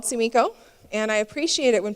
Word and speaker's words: Sumiko: people give me nicknames i prefer to be called tsumiko and i appreciate it